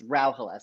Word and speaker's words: Rauhala: this posthumously, I'm like, the way I tell people, it's Rauhala. So it's like Rau like cow and then ha and la. But because it's Finnish, the emphasis is on the first syllable and it means place